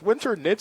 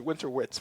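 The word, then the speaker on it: Winternitz: in my head and I realized I was saying it wrong. So, it's winter nits. I always said winter wits for many, many years until someone said it out loud.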